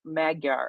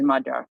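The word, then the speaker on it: Magyar: call him mag mag magar or something like that but he's majar yeah that's the that's the Hungarian pronunciation majar uh the way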